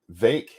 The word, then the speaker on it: Vivek: Vivi, is that how you pronounce it? The K silent? I've heard it several different ways. And yeah, I'm going to have to Vake, like cake.